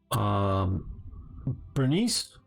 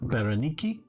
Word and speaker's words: Berenike: You can see down here the fourth one up from the bottom, Arsinoe, or Bernice, or if you want to pronounce it, Berenike, probably more correct for the Greek, or Cleopatra.